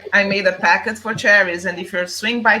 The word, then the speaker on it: Charis: you're swing by Charis, I think it's Charis is how you say the store name. It's not Charis. It's Charis. Like Charis! Oh my God! See, because that's the Portuguese thing. The CH is sh.